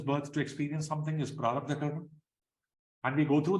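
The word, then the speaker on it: प्रारब्ध: Prarabdha karma, there is one long vowel there.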